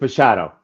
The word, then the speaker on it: Machado: Because I love the pronunciation. Yeah, it's Machado. Machado, brilliant.